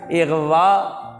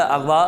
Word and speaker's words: اغوا: ہوتا، اعراب ہوتا ہے۔ اغوا درست ہے، اغوا غلط ہے۔ اعلان، اعلان نہیں، اعلان۔